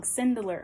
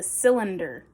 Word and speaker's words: cylinder: I was saying it wrong. Cindular. I kept saying cindular. It's a cindular. Okay, I've forgotten again. Wait a second. I actually got it this time. It's a cylinder, not cindular.